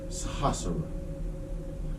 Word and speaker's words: Sahasrara: Now, for today, the Sanskrit word is going to be pronounced Sahasrara.